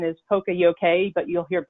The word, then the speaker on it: poka-yoke: The actual pronunciation is poka-yoke, but you'll hear poka-yoke, poka-yoke.